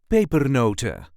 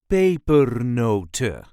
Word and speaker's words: pepernoten: And as usual we normally do not pronounce the N at the end. So, paper noter paper noter.